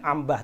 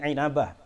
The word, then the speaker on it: Inabah: Bacanya jangan ambah tapi Ainabah.